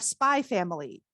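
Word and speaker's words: Spy × Family: first up we have spy family by tetsuya endo you don't pronounce the accents by family it's therefore a stylization choice spy family is about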